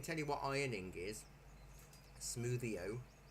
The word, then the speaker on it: smwddio: Smoothio, but it's spelt SMWDDIO because it's got a different Smoothio.